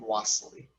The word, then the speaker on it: Wassily: some wassily and some wastely i'm going to pronounce his first name wassely so today's artist is wassily kandinsky and he